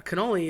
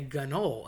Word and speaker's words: cannoli: I always said cannoli, always heard cannoli, but my buddies that are from northern Jersey and New York area say gannol. And again, that C turns into a G. Uh no Gs involved, nothing about it, not a thing, but they will say that.